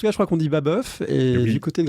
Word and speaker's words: Babeuf: En tout cas, je crois qu'on dit Babeuf.